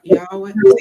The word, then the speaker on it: Yahweh: for the typo man follows how do you pronounce that six y yah Yahweh Yahweh Yahweh okay Yahweh woman follows man children